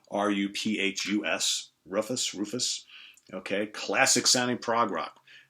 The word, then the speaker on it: Ruphus: So we got Newborn Day from Rufus, that's spelled R-U-P-H-U-S, Rufus, okay, classic sounding prog rock.